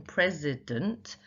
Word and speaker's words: president: So in president, the last syllable is quite unstressed.